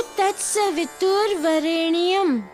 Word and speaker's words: तत्सवितुर्वरेण्यम: नहीं दामोदर, बोलो तत्सवितुर्वरेण्यम। तोड़ तोड़ के याद करो, सरलता से याद हो जाएगा और उच्चारण भी सही हो जाएगा।